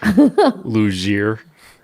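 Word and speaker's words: Luzier: I don't know if it's pronounced loser. Luier. L U Z I E R. Ray Luier. I'm going to assume.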